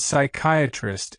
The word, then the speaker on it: psychiatrist: The P in psychologist, psychic, and psychiatrist is silent.